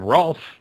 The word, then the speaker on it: Rolf: We also received an email from Rolf, like the Muppet. He was made sure it was like the Muppet, so I pronounced it correctly.